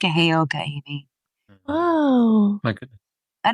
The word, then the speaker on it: Heyoka: Heyoka.